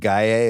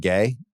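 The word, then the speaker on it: Gueye: And I did a mailbag the other day and I said Gier instead of Gay.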